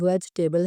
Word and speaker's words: vegetable: English जो है वेजिटेबल, वेजिटेबल इसकी सही प्रोनाउंसिएशन वेजिटेबल है। इसे आप दो हिस्सों में डिवाइड कर सकते हैं, एक वेज और एक टेबल। वेजिटेबल, कुछ लोग जो है वो इसे वेजिटेबल पढ़ते हैं, वो गलत है।